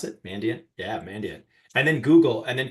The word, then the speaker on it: Mandiant: Is that how you pronounce it? Mandiant? Yeah, Mandiant.